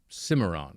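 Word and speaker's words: Cimarron: Stallion of the Simmeron. I'm pronouncing it like that. Is that correct? Yeah, that's right.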